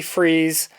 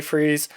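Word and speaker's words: Freas: And this has cover art by Kelly Freeze. I have heard his name pronounced Freeze and Free or Frius. And I looked it up on his Wikipedia page. It says it's pronounced freeze.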